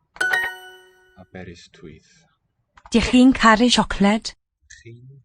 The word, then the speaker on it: Aberystwyth: Ystwyth. The W represents a vowel. Aberystwyth.